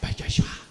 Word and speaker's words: PechaKucha: PechaKucha, Machu Picchu, the Japanese say it kind of like PechaKucha.